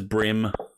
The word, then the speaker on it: bream: says bream but it's brim it's pronounced brim here in Australia it is a very